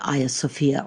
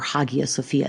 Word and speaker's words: Hagia Sophia: So the video leaves off with an introduction to Hagia Sophia, or Hagia Sophia. It's actually pronounced both ways. I tend to use what I think is the old Greek pronunciation.